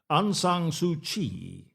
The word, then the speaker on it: Aung San Suu Kyi: Aung San Suu Kyi. I've never seen it written down. I know how to say it, but it's an interesting name. I mean, AUNGSANSUUKYI.